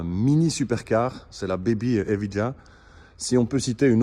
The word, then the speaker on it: Evija: avec, vous voyez là-bas, la Evija, il faut prononcer Evija, l'hypercar électrique, full électrique qui coûte 2 millions d'euros et qui développe 2000 chevaux.